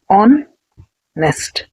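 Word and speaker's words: honest: ऑनेस्ट का first letter hatch. ये तो एक कंसोनेंट है। तो हम यहां पर ए नहीं लिखना क्योंकि हैच यहां पर साइलेंट है। और हम प्रोनंसिएशन कैसा कर रहे हैं? ऑन नेस्ट।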